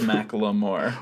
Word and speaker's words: Macklemore: I've noticed that you pronounce Macklemore the correct way that he wants it to be pronounced, which is Macklemore.